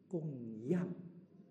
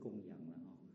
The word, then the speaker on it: 供養: So they want "gong yang" (with falling-rising tone), offerings. offerings. Offering upwards. So sometimes you'll hear some Dharma masters emphasizing this pronunciation. This is a characteristic of our Chinese characters, you know. Sometimes the pronunciation represents the level. But now we are accustomed to saying "gong yang" (neutral tone).